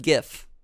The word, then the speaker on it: GIF: your password is password it is pronounced Giff we need all the